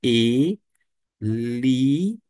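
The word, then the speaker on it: Ἠλίας: Nós temos aqui o eta, é o e longo. E na forma maiúscula se encontra desta maneira. Parece H, parece, mas não é. Por isso que a pronúncia é e liis.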